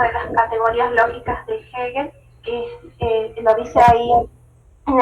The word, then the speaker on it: Hegel: intentaban defender, contradecir en realidad las ideas de Hegel, así se dice, se pronuncia así, pero en realidad se mantenían en